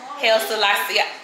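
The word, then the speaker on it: Haile Selassie: Hail Selassie.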